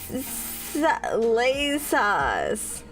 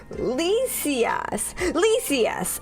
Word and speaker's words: Lysias: That's wrong. Leah Cias. Is that? Let me see. Laysas. Don't worry about it. Okay. I'll get it right. Don't worry about it. One day. I'll just keep throwing different pronunciations at you until you're finally like, okay, that's right and not cursed. And I'll be like, yippee. Oh, Lysias. Okay, Lysias. Well, remember that. Now strong A.